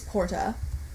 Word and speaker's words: porta: The nominative singular is porta, the genitive singular is portae, the dative singular is portae, the accusative singular is portam, the ablative singular is porta with a long A at the end, and the vocative singular is porta.